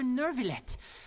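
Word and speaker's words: Neuvillette: Oh, Monsieur Nervillet.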